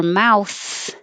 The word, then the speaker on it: mouth: behind the teeth mouse for mouth it has to come between the teeth and keep it loose so that air can